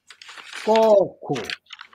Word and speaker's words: koko: For example, if we say koko, which means hand or mouth, and if we pronounce it kuku, that means change the meaning of the word. Now it's no longer meaning hand.